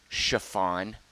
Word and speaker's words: Siobhan: Do you know how you pronounce Siobhan? Chiffon. Yep, that's true. It's a true fact.